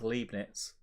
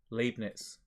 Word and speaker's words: Leibniz: then Frederick says LOL how the hell did you just pronounce leibnitz yeah then Larry says some nonsense about my uncle is then Frederick says try pronouncing it as leibniz Ed experience no